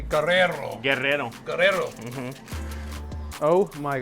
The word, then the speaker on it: Guerrero: Can you please, you need to roll your R's, okay? Guerrero.